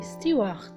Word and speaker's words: steward: Il reste quelques cas particuliers comme le mot steward, qui s'écrit avec D mais prononcé T, steward.